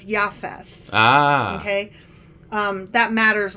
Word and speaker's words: Japheth: okay okay so noah sons again were shem ham and jfess and actually i've been pronouncing japheth wrong because the j is a y so it's yafes ah okay um that